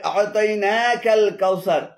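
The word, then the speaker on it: أعطيناك الكوثر: এখানে আ'তাইনা এবং কাল কাউসার উভয়টি ভুল উচ্চারণ। শুদ্ধ উচ্চারণ হবে আ'তাইনাকাল কাউসার। আ'তাইনাকাল কাউসার। কাটা আ'তাইনার সাথে উচ্চারণ করতে হবে।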